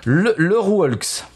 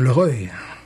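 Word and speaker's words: Le Rœulx: Le Rouelx. Voilà. Tu as un petit accent. Le Rouelx. Voilà. Tu dirais ça comment, toi? Je dirais le Reuil.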